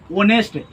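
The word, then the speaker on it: honest: इसीलिए Ramu is एन ऑनेस्ट because this is एच is consonant but the pronunciation of एच इज ओ मतलब क्या? ऑनेस्ट।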